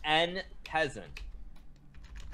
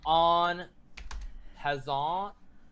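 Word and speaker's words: en passant: you guys it's it's n peasant you're saying on hazard no it's n peasant you guys i'm sorry eric class it's not pronounced like that he car yes it is it's and peasant you guys and peasant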